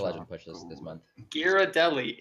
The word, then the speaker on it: Ghirardelli: Ghirardelli. It is not something that you have to like stumble over for the first syllable.